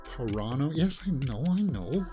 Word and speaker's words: Carano: against Disney James don't you know that it's pronounced corano yes I know I know but don't worry